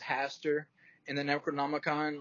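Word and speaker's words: Hastur: a little bit like Pastor even though it's pronounced Haster in the Necronomicon like it's spelled with an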